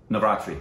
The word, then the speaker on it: Navratri: Say it for me again so I don't mispronounce it. Navratri.